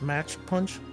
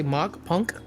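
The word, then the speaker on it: Mach Punch: It's pronounced match punch. Thank you. If you run Do you Fake say- out, You say mock punk? Oh my god. No. It's match punch.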